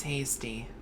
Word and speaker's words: Hasty: Name's Hasty. Hasty? Hasty. Rhymes with tasty.